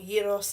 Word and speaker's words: gyros: So we're going to be cooking basically flatbread, chicken, a little bit of a gyros, or gyros as it's actually pronounced.